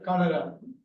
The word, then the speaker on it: cholera: அந்த ஹங்கருக்கு பக்கத்துல ஒன்னு இருக்குல்ல சார், அது எப்படி ப்ரொனவுன்ஸ் பண்ணணும்? காலரா.